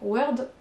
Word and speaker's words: word: Ok, mais on n'entend pas du tout de O. Donc attention, c'est pas parce qu'on écrit un mot avec un O qu'on va prononcer work et word. Word, j'arrive pas à le dire. Donc un document Word, en plus à la française on le prononce déjà un peu avec un E, mais c'est word.